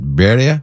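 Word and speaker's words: birria: well they have uh and I always mispronounce is it Beria how how do you say b i r r i a yeah yeah you got to roll the r what is bir there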